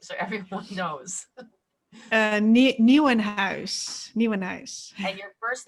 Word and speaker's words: Nieuwenhuis: Nieuwenhuis.